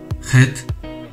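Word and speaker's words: חית: 마치 소주를 마신 후 내뱉는 소리와 같은 느낌이라 생각해 보시면 됩니다.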